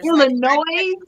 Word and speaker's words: Illinois: The L and salmon. Like stuff like that grinds my gears. Or Illinois? Are you kidding me? We gotta respect the silent letters.